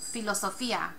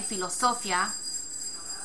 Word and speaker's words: filosofía: But if you think about it, we don't say filosofía. Listen to it. Filosofía. It's filosofía. So it's breaking the rule. We're dividing up this IA sound. So we would say accent on the I.